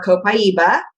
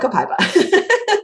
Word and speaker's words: copaiba: when they were sourcing it's pronounced more copaiba right I always call it kopa well and I don't think it there's a right or wrong way because even within the founders the seven founders of dotera they all say it differently as well so you